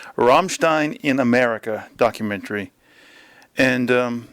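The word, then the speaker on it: Rammstein: finished watching the Ramstein pronounce it properly Ramstein in America documentary and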